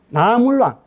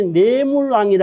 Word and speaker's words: 나물왕: 박재상이 이제 신라에 56명의 왕이 있는데 17대 나물왕. 그러니까 우리 흔히 이제 예전에 내물왕이라 했는데 그 내자를 이제 그 한학자이나든지 어문학자들이 이제 내자를 나자로 불러야 된다.